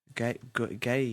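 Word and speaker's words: Gueye: Kino, can you give us the correct pronunciation? Idrissa Gana Gay.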